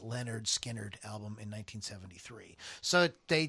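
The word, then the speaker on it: Lynyrd Skynyrd: recorded to the final cut of on the pronounced Leonard Skinnerd album in 1973.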